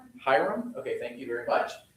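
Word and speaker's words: Hiram: Can anybody pronounce Hyram Hyram?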